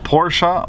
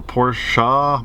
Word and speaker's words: Porsche: all my life, but I know it's supposed to be pronounced Porsche, so I'll do my best to say Porsche. We have a manager here, it's one of his pet peeves, and I'm like, you know, tomato, tomato, and his response says, well, Ferdinand Porsche's name is pronounced Ferdinand Porsche, so it's Porsche.